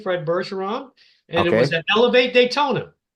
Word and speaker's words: Bergeron: name my last name berson so it's F berson the number two okay just a second now people don't know your French and they don't know that's a soft G so spell your last